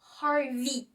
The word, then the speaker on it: Harvey: Mais sachez que EY se prononce toujours I. Donc Harvey déjà.